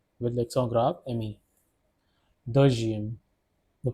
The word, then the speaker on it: deuxième: Deuxième. The pronunciation is deuxième.